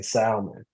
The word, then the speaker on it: salmon: Again, the L is silent.